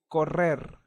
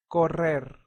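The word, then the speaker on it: correr: which means to laugh so in Spanish we also have the Double R or double array so whenever you see her or double r it will sound stronger for example corer corer that means to run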